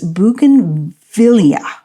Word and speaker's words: bougainvillea: that I have finally looked up how to pronounce this, and it is bougainvillea.